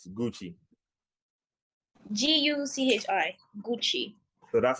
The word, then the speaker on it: Guchi: here with also name pronounce the way it is spelled Gucci g-u-c-h-i so that's how